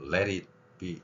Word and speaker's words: Let it be: 그래서 우리말 리을이 어디에 있느냐 그러면은 T 소리나 D 소리가 모음 사이에 있을 때 이럴 때 이제 그 소리가 리을 소리가 되는 겁니다. 그래서 비틀즈의 노래를 쭉 들어보다 보면 Let it be 이렇게 나갈 겁니다.